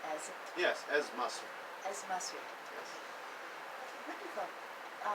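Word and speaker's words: Ezz Masri: Am I pronouncing it correctly as? Yes, as Masri.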